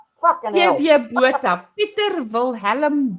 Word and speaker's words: Botha: B O T H A. Take it as you will. And I just want to educate you a little on the correct pronunciation in South Africa, Botha.